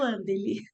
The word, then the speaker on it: Wandeli: Porque às vezes o W tem som de V também, né?